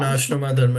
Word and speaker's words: Varnashrama dharma: Varnashrama dharma. No, you got it pretty good.